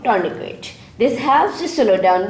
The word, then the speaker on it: tourniquet: तो ये जो आपने कपड़ा बांधा है ज़ख्म पे, that is called tourniquet. T is silent here.